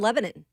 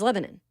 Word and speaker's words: Lebanon: By the way, Cousin Danny of the Borough says that you don't say, that's how they pronounce it here in Tennessee, I'm pretty sure, is Lebanon. Lebanon.